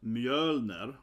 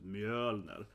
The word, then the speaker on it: Mjölner: a slide on that, how to pronounce Mjölner, which is Thor's hammer, right, also the Ö sound, right, so it's Mjölner, and this is Princess Estrid.